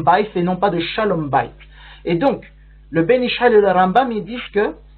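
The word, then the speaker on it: שלום בית: Et donc, j'ai bien dit Shalom Bayit et non pas Shalom Bayit, comme c'est souvent prononcé, puisque ici, le terme Shalom est à la forme construite. Shalom, c'est le mot absolu, mais à la forme construite, Shalom devient Shalom.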